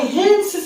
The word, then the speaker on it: Hantzsch: तो आज की क्लास में जो हम सिंथेसिस करने वाले हैं पैरोल का, वो करने वाले हैं बाय हेन्स सिंथेसिस. क्या चीज? हेन्स सिंथेसिस से. इसका स्पेलिंग क्या है?